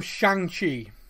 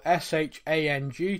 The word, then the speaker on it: Shang: been calling this film shanxi non-stop it's spelled s-h-a-n-g to me that's shang yeah i mean i